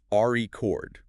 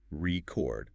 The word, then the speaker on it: record: If you stress the first syllable, record, that's a noun, like a vinyl record or a world record. Okay. R-E chord, noun. But stress the second syllable, record, now it's a verb, to record audio, to record information. Record. Wow. Okay. Same letters, different word almost, just based on stress.